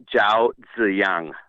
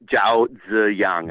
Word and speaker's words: Zhao Ziyang: By the way you pronounce his name is Zhao Ziyang. Zhao Imagine a D Ziyang? and a Z. Zhao Ziyang. Imagine a D and a Z next to each other.